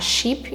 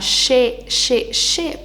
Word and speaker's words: ship: O som de e tem som de i e o som de i tem som de e no inglês. Então, em vez de ficar sheep, igual as pessoas vão falar errado, vai ficar ship.